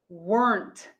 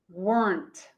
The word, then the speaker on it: weren't: wasn't and were plus not is weren't one syllable weren't weren't next my friends let's